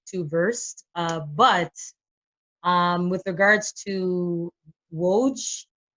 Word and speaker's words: Woj: But with regards to Woj, did I say it right? Watch. No, you had it right the first time.